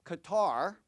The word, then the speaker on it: Qatar: And the 2 cities are London, UK, and Doha, Qatar, or Qatar. Apparently you can pronounce it both the same, or either way.